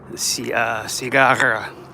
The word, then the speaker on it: cigarra: R con R, cigarra. Cigarra. See, words in Spanish that have two R's together, you're supposed to roll your R's.